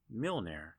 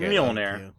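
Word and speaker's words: Mjölnir: That like it's kind of like Mjolnir, Okay. like Thor's Okay. Yeah, hammer. What did you just call it? So, I know I butchered that. I'm sorry. It's Mjolnir. Yeah, It's okay. Mjolnir.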